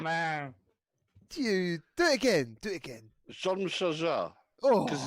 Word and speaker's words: Jean-Michel Jarre: I think it's Jean-Michel Jarre. Oh, Salsa! Great job, man. Dude, do it again. Jean-Michel Jarre.